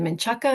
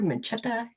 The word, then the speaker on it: Menchaca: Is it Menchaca or Menchetta? Am I Yep, saying it right? Menchaca. Menchaca. Menchaca, Yeah. hmm an integration specialist.